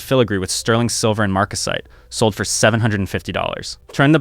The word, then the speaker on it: marcasite: Solid gold, sterling silver, and my favorite marker of the era, marcasite, pronounced m-a-r-c-u-s-i-t-e.